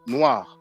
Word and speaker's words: noir: Whether it's masculine or feminine, it is pronounced the same.